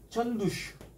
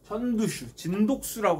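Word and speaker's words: 陳獨秀: 대표적인 게 이제 전두슈, 진독수라고 합니다. 우리 발음으로 하면 진독수라고 하는 이 전두슈, 뭐 아큐정전의 루신, 뭐 이런 사람들이 신문화 운동을 펼치죠.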